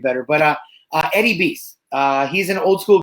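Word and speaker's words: Beis: but uh uh eddie beast uh he's an old school bdm i know him from time to time days as well um e-i-s eddie b-e-i-s i think he pronounces it beast um he's on instagram as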